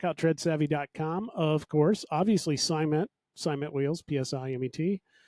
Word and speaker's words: Psimet: Obviously, Simet wheels, PSIMET. The P is silent, like when you go against the side of the toilet.